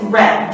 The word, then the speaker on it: read: in participle form is red the spelling is the same but the pronunciation is different so we have to